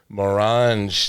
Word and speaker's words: Morange: Keith Mrage today.